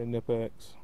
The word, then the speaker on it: Knipex: I say Knipex. I know that's not how they pronounce it in Germany. I have lived in Germany, but I'm not German, so I just say it like that.